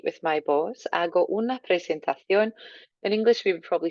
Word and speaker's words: presentación: Hago una presentación. Nice accent on the O there. Make sure your C comes out as a nice T.